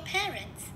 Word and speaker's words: parents: Parents, ba mẹ thì chúng ta cũng sẽ nhấn trọng âm 1 luôn.